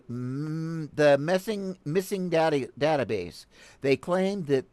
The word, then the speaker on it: MSSNG: way better than that mssng pronounced missing is a groundbreaking collaboration